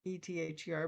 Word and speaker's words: aether: ether and spell it e-t-h-e-r but and i did in my book and found out it's actually a-e-t-h-e-r and pronounced ether and we have a